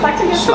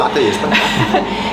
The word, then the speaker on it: Slagter Jesper: So we're here with Jesper at Slagter Jesper. I probably said that wrong. How do you say it? Okay, Slagter Jesper. Slagter Jesper.